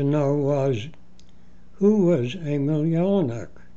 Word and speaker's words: Jellinek: river people spoke Czech in these languages the J is pronounced as y so the family name would be pronounced yelan my grandfather was called